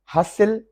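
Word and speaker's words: hustle: हसिल, हसिल basil जैसे होता है, गहमा गहमी होती है, हसिल बसिल। हसिल, टी साइलेंट है।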